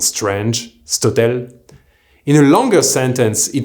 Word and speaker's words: cet hôtel: words like this hotel, cet hôtel, being pronounced stotel. The thing is that while by itself it may sound strange, stotel, in a longer sentence it flows quite nicely.